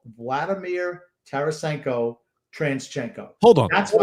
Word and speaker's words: Tarasenko: I don't care if it's Transchenko is a running joke in this I don't house.